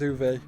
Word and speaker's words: Uwe: u b is or is it U it's UWE is how it's spelled but I always heard it as U uh interesting I maybe well I'm going to stick with uve he's famous for making